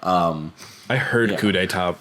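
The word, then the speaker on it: coup d'état: so who could it not coop detect come on yeah I definitely said it like that for way too long before ever hearing someone say it out loud um I heard a coup d'etat pronounced and I was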